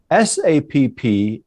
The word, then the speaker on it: SAPP: SAPP and SALP, commonly pronounced as SAP and SALP, are leavening acids used